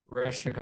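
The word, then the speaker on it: Орешник: Oreshnika is the proper pronunciation.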